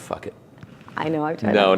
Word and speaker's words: Phuket: And it's pronounced fuck it.